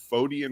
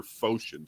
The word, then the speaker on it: Photian: photo i i'm curious is it pronounced the fodian or photion schism i've heard both yep i've heard both i've